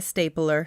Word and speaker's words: stapler: 이러면 이거 호치키스인데 발음 조심해요. 이게 스테플러나 스탬플러 이렇게 쓰는 게 아니고요. 스테이플러. 예, S 다음에 T 사운드는 약간 된 소리로 발음하는 게 좋아요. 그래서 발음할 때 stapler입니다. A-E 발음이에요. stapler. 스탬플러 이런 단어 없습니다, 여러분.